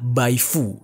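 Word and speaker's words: Baye Faux: atau istilahnya itu adalah Baifu gitu ya, tulisannya Baifux gitu, tapi bacanya Baifu.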